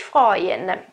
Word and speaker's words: freuen: Attenzione che a seconda della preposizione cambia, okay, il contesto, perché sich freuen, guardate che si scrive freuen, non pronunciatelo freuen, e u si pronuncia oi, ok?